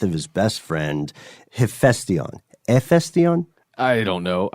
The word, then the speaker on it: Hephaestion: Hephaestion? I don't know. I heard via the internet that the H is silent, but I am no Hephaestion expert.